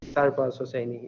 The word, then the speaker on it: Sarbaz Hosseini: It is Sarbaz and Hosseini, and all single, basically letter you pronounce them. Easy, Sarbaz Hosseini.